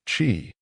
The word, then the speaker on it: qi: It was about energy, the invisible yet vital life force known as qi, pronounced qi, which flowed dynamically through every living being.